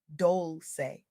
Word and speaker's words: Dolce: My name is Dolce, pronounced dol-say, like sweet softness whispered in French.